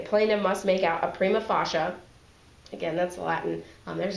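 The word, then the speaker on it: prima facie: must make out a prima fasha again that's Latin um there's a lot of Latin in the law um it's it's pronounced Prima fasha case showing one membership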